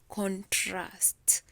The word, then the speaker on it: contrast: is the first syllable compare and contrust the two oral narratives so you even from listening you can tell that the second syllable is the one that you're going to stress compare and contrast yeah so much emphasis